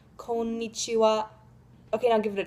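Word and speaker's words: こんにちは: japanese is konichiwa you probably heard it as konichiwa right maybe well that's basically right but just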